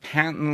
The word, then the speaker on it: patent: So, so, uh, some older people pronounce them patents, uh, to rhyme with latent. Uh, we don't do that anymore. We all say patent and latent.